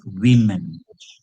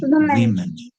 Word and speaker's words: women: And Tanish, when when you pronounce the plural of woman, it is women. Woman, women.